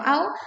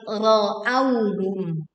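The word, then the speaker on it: رأوهم: Hati-hati bukan ra'au tapi ra'awhum.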